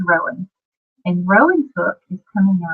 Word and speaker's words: Rohan: I did name him after the writers of Rohan from Tolkien's books, the Lord of the Rings series, but when I pronounce my fella, he's Rowan.